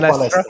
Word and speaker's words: Palestra: Am I pronouncing it right? Would that be right? JM Palestra, yes.